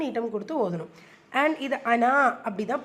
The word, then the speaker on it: أنا: ஆனால் அனாவை பொறுத்த வரைக்கும் நம்ம அனா அப்படின்னு ப்ரொனவுன்ஸ் பண்ணக்கூடாது. அன அப்படி தான் ப்ரொனவுன்ஸ் பண்ணணும். நான் அப்படின்னு என்ன குறிக்கிறதுனால அன அப்படி தான் ப்ரொனவுன்ஸ் பண்ணணும். நம்ம அன அப்படின்னு ப்ரொனவுன்ஸ் பண்ணுங்கிறதுக்காக தான் அந்த சர்க்கிளை அந்த மத்தா மேலே மென்ஷன் பண்ணியிருக்காங்க.